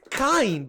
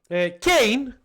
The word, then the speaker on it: Kain: It's Cain. Oh, sorry, yeah. So I had it always like Kain because of the biblical nature of his name, because like Cain and Abel. So that's why I always called him like this. But yeah, Cain, as he's pronounced apparently, is not a character that I know.